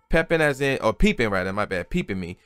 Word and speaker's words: Peepin' Me: Peepin' Me. P-E-E-P-I-N, no G, but with the apostrophe.